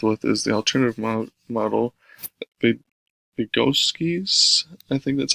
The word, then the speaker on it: Vygotsky: And then the last one is one that they get really in depth with, is the alternative model, Vygotsky's, I think that's how you say it, sociocultural theory, is how like teachers and students together collaboratively teach students assistively.